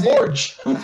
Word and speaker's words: Borges: On va le prononcer à la portugaise. Tristan Borges.